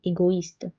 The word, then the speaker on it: égoïste: Égoïste, égoïste. It's separating the sound of O and I, égoïste.